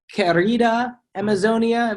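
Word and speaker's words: Querida Amazonia: it's one of the more environmental ones uh kerrida amazonia that's how you pronounce it in which he looks at the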